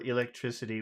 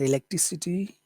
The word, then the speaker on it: electricity: So in that word electricity, which syllable, that's a pretty long word, which syllable has all of the sound? Electricity, electricity, electricity. Electricity, Mm-hmm. electricity. Electricity. See, Tri, elect. tri, tri. Electricity. You hear that?